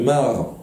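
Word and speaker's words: marc: ça se dit le mar les résidu des olives après broyage et extraction Mar avec un C à la fin mais ça se prononce pas MC c'est comme le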